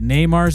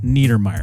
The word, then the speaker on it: Neymar: I don't know a lot about soccer, but I do know that Neymar's name is not pronounced Niedermeyer.